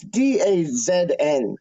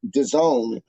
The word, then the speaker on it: DAZN: matches that they get them on uh it's d-a-z-n which i would pronounce dazn but here they pronounce dissolve i don't it's not the zone it's d-a-z-n